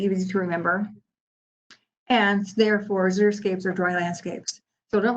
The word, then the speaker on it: xeriscape: natural landscape to help you remember how to pronounce this word it's xeriscape here are some examples so remember that zurich